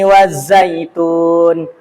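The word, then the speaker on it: وَالزَّيْتُونِ: Wattini wazzaitun. Tun ya. Itu dibaca panjang.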